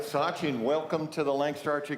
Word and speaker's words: Sachin: from our second shooter with PJ all right Sachin welcome to the Lancaster Archery Classic Stage thank you yeah am I pronouncing your first name correctly yes it's correct